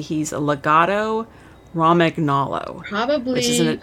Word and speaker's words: Romagnolo: correctly he's a legato Romick Nala probably I would say romagnolo Rahm okay just because like champagne the GN sound in oh yeah you're